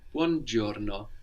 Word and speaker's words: buongiorno: So sometimes the I in Italian won't be heard that clearly. Like here, we don't really pronounce giorno, but giorno.